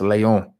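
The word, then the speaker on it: Léon: Leon. They can't even put the italicized E on there. The acute E, excuse me. The acute E on my E for Leon. It's not Leon, it's Leon, And I know I've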